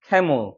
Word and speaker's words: camel: 이거는 강세가 여기 있으니까 에 발음이 나서 camel이 되는 거죠. 머리 아니야? camel. 약간 물 사운드처럼 죽어버려요. camel.